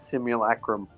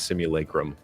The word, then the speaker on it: simulacrum: Apparently, the actual pronunciation is simulacrum. I reject that reality and substitute my own. It's simulacrum. Right.